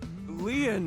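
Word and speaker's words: Lien: stay by your side my name lean is spelled l i e n in French lean means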